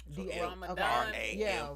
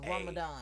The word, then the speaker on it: Ramahdan: Ramadan. Ramadan. HDAN. It is. Spell it one more time for the ones that ain't here. RAMAHDAN. All right. Did you get that? Ramadan.